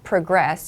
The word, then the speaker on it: progress: so progresses be careful progress and progress used as nouns and verbs have different emphasis progress as a noun takes progress the emphasis is on the first syllable so progress here however